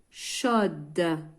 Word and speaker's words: chaud: Oui, c'est une assiette chaude. J'ajoute le E. نلاحظوا هنايا chaud, le D il est muet.